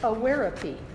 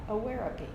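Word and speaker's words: Awareapy: And today's topic is awarepy. That's spelled A-W-A-R-E-A-P-Y, awarepy.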